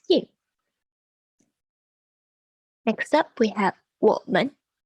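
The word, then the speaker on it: 我们: Next up, we have 我们. 我们. 我们. So this is in the third and second tone, and this means we or us.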